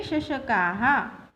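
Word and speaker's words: शशकाः: This is a visarg and you have to pronounce it as the last vowel shashaka a. So we have to pronounce it as ha. Shashakaha.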